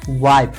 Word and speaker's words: wife: है, ठीक है, और अंतिम ई का अपना कोई उच्चारण नहीं होता है, और अंतिम में जो ये ई रहेगा उसका कोई उच्चारण नहीं होगा, ठीक है। तो इसको कैसे लिखेंगे, वाइफ, WIFE, ये क्या हो जाएगा, वाइफ।